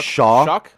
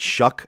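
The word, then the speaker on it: Shough: Although, Tyler, I I'm going to call him Shaw. I'm going to call him Shaw because because that's what it looks like, but they pronounce it Shuck.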